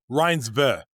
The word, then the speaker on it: Reinsve: We need to we need to know how to pronounce that correctly. Okay, I just said it wrong. RinsV.